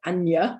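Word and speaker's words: Anja: i thought i could i found a name like anya with a j in the middle just to show even if it ever does come up in the middle of a word it's still a sound um so the second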